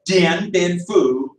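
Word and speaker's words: Điện Biên Phủ: And so that's why you have Dien Bien Phu, but that D is pronounced like a TZ, Sam.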